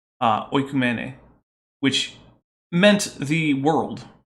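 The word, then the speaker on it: οἰκουμένη: So if you're going to use the sort of reconstruction pronunciation that is common in Christian circles, it would be oikumene, which meant the world, right?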